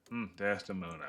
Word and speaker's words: Desdemona: Desdemona.